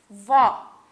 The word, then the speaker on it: vó: O acento agudo, então, ele tem o som aberto, por exemplo, vó.